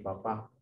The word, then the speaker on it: papá: el agua que le da el papá, el papa.